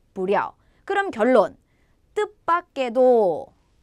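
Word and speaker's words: 不料: 발음은 찡란, 쥐란, 부랴.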